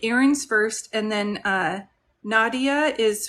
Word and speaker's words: Erin: Okay, Erin is pronounced Erin.